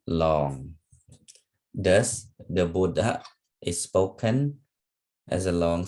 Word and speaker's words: Buddha: remember the vowels okay however when a short vowel at eight or o is followed by two or more consonants the syllable is pronounced long okay thus the Buddha the Buddha is spoken as a long syllable followed by a short one okay okay let me